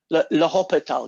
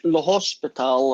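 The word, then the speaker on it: L'Hôpital: Le Hospital guy.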